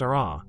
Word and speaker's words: aa: Other areas are rough and jagged, called AA, pronounced RR, where the solidifying crust broke apart and formed clinkers and sharp fragments.